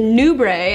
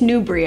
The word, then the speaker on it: Nubre: The fabrics they're using, the Elysium, the Nubre, actually it's Nubre, I just found that out. Yet another word I mispronounced, just add it to the list.